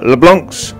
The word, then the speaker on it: LeBlanc: Well, LeBlanc, sorry, the C is silent.